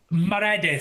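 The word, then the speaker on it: Maredudd: Is it Merad? the pronunciation Mredith. So think of Meredith. Okay. But Meredith Meredith.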